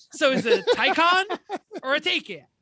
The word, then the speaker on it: Taycan: is it a Taycan or a Taycan? It's a Taycan. Taycan? I phonetically spelled it in my notes.